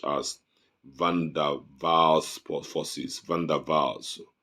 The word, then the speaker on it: van der Waals: Liquids are characterized by moderate intermolecular forces such as van der Waals forces, van der Waals, W-A-W-W-A-L-S, but it's pronounced as Waals because it's a German word, not Waals.